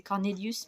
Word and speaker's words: CORN8LIUS: C'est Cornelius, mais ça s'écrit avec un 8. C'est CORN8LIUS.